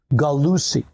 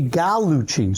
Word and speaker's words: Gallucci: Because I've gone through life where people call me Gallucci. And there's no U, and CCI in Italian is Chi. Mm-hmm. So it's really Gallucci.